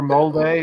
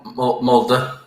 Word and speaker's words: Molde: it as well sam mold or molday or moldy mulder mulder mulder yeah think about think about mulder in x-files mulder that's roughly what it sounds like yeah first we destroy